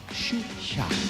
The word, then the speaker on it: Xuxa: Ella cautiva, atrae con absoluta espontaneidad y su nombre se pronuncia en Brasil de una manera muy singular. Se llama Xuxa.